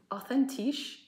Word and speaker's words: authentisch: We don't have the TH. It's written the same, authentisch. Oh, but you don't say... But you don't... Authentic. Authentisch.